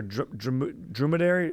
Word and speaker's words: dromedary: How do you say it? Dromedary or dromedary? Dromedary. Yeah. Dromedary.